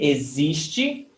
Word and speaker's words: existe: Você existe. So the stressed syllable is existe, zis.